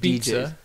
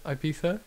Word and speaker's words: Ibiza: And they went to Ibiza, and they think they're, like, big Ibiza. DJs. Sorry. How do you pronounce it? Ibiza.